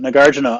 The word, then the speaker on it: Nagarjuna: But Nagarina, um N A G- A R Ju N A Narina. It's actually spelled like it sounds.